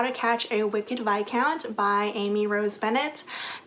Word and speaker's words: viscount: to catch a wicked by count by Amy Rose Bennett did you know that it's pronounced by count and not Viscount I only figured this